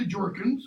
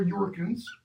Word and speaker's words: Jorkins: They mention Bertha Jorkins, or Yorkins, depending how you want to pronounce that, right?